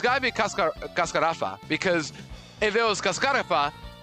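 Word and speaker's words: Cascarrafa: That would have an accent, but kascarafa doesn't have an accent because the second syllable.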